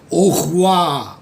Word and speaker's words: au revoir: लेकिन जब मैं इसको इकट्ठा बोलूँगा, it would be something like au revoir. इसके 3-4 प्रोनाउंसिएशन है. जो नेटिव फ्रेंच एक्सप्रेशन है दैट इज au revoir. अगर आप इसको au revoir भी बोल देते हो, that is accepted. This is see you और goodbye.